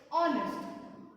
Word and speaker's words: honest: Before the silent H, there are many words where H is there, but it is silent. Let's see. An honest man.